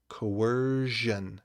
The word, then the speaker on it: coercion: how to say it coercion how do we spell coercion coerce shun that's it's a